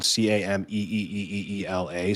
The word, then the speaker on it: Camila: Camila, I have to write down Cameeeela, so I'll always remember to pronounce it correctly. I think What it do you? was I mean, right. like I said Camilla when I introduced you, and I was like, shit.